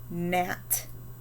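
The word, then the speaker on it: gnat: those words i don't what about nat gnaw and gnome do you hear a g in any of those words me either down here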